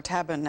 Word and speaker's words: tabun: We know about sarin, nerve gas, but tabun, or tabun as it's pronounced, and lewisite.